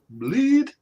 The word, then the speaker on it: Blidh: It's pronounced bleed.